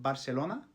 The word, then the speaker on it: Barcelona: take the name Barcelona, in a lot of Western dialects that'll be pronounced something along the lines of Barcelona, whereas in Eastern dialects it's just kidding, it's usually the case that a and e get reduced into a schwa, so you'll have Barcelona.